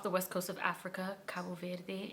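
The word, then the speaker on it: Cabo Verde: Cabo ver if you've ever heard of it. I don't know why I said it like that. That's not how I say it, but I'm trying to like say it properly and English at the same time. Anyway, uh it's Kabu Veri and that's where we're from.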